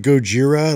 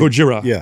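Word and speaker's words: ゴジラ: pronounce it Godzilla so Godzilla in Japan Gojira like Gojira is the original yeah that's what I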